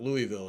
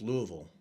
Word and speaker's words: Louisville: want to breathe it's not Louisville it's Louisville Louisville yeah I I say it wrong I got in trouble